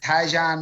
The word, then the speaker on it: Tyjon: I was on the mic half the time, so found out we've been pronouncing Tegan Newell's name wrong the whole year. Tyjon Newell.